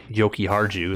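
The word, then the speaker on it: Jokiharju: defensively they have victor mette and henry uh yoki harju that's how you say his name uh their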